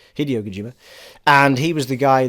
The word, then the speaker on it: Hideo Kojima: the new game by Hideo Kojima I've probably pronounced his first name wrong I think it's Hideo Kojima Hideo Kojima and he was the